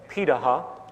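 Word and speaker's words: Pirahã: societies around the world such as the Paha which is how it's pronunciated uh out of Brazil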